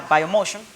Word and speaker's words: Bio Motion: que es bio motion se pronuncia vaya motion pero se escribe bio motion deere muchísimas gracias a